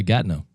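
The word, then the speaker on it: Gatineau: Wait, how am I pronouncing this correctly, Jordan? Gatnau. Oh, yeah. Gatnau.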